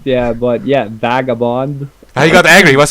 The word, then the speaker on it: Vagabond: I know I'm saying it wrong because he gets angry at me because I call him like Vagabond with an F, but it is with a V. So, Vagabond.